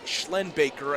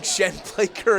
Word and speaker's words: Schlenbaker: I want to correct myself on the pronunciation of Squalicum's running back, and Ben Schlenbaker. I keep saying Shenblaker. It's just one of those names you trip up, and my apologies for that one.